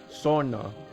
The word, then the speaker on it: sauna: Sona. That's how it's pronounced.